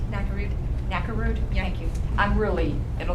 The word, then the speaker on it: Nakarud: Did I pronounce that right? Nakarud.